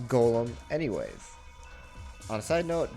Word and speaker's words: GAULEM: that much who surprised this ends up being pronounced Golem anyways on a side